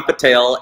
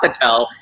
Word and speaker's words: Patel: who pronounces them right it's patel and i've had tails tell me it's patel i'm like you are wrong it is not the tell it's patel sit down don't don't